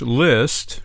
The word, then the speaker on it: Liszt: um we should mention if you don't know list is spelled l i s ZT and that's part of